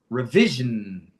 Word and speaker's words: revision: So it's not re the emphasises the emphasis is on the it. So it's rei rei revision revision revision.